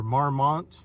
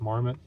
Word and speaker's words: Marmot: And last, on the clothes, I got this Marmot or Marmont. I've heard people say different pronunciations, but I think it's just Marmot.